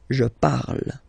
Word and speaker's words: parle: ending e, and then the way to pronounce it is je parle, parle. So remember, we put it, okay, but then we don't really pronounce it, je parle, okay.